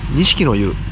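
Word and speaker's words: 錦の湯: 短敷の湯と書いて錦の湯と読むそうです。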